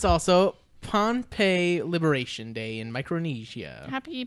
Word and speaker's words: Pohnpei: It's just another place that sounds like Pompeii, but it's spelled differently.